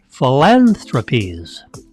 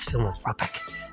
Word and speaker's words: philanthropies: a lot of letters philanthropies sorry anybody should know that I thought it was filing ropic philanthropies yeah of course 68 billion